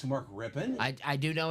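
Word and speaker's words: Rypien: you know it's not rippan it's spelled rippan but it's not rippan it's Mark rippen well of course I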